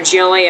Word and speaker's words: Hjelle: It is pronounced Jelly. The H is silent, so a nice first inning there for Hjelle, as he gives up